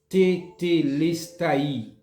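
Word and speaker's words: τετέλεσται: Cette expression française, ça, li sorti dans un seul mot grec qui prononcé tetelestai.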